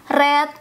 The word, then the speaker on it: read: R V2 dan V3 walaupun kita lihat ini tulisannya sama Tapi bacanya beda red red read RS red